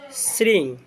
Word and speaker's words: শ্রীং: শক্তিশালী এক অক্ষরী বীজমন্ত্র আপনারা অনেকে হিন্দিতে ওটাকে শ্রীম বলে তো আপনারা শ্রীং উচ্চারণ করবেন শ্রীং বীজ মন্ত্র তো